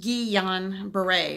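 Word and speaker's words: Guillain-Barré: hacks on wellness this video is about the Gion Bray recovery so we're gonna call Gyan bere GPS because it's really hard to say it's actually pronounced ee on Bray it's French so today we're gonna discuss the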